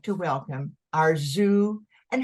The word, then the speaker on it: Arzu: possible backgrounds and today I'd like to welcome our zoo and how do you say your last name arzu I want to make it perfect there you